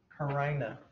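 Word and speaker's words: carina: Karina. If you have a friend named Karina, this is a different pronunciation.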